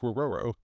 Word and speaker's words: Rororo: Seeing their chance to enter the fight, Zaryusu sacrifices his steed, the Hydra snake Rororo.